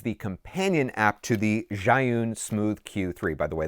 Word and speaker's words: Zhiyun: That is the companion app to the Zhiyun Smooth Q3. By the way, that is apparently how it is pronounced.